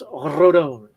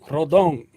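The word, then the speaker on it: Rodón: that gets me is when people mispronounce names like oh rodon it is not rodon that little accent makes it the oh sound that makes it say it name it's obviously a Spanish name it has some Latin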